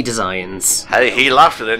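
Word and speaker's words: Desians: It's pronounced Decians, you pleb! What's so funny? No, it's definitely Designs.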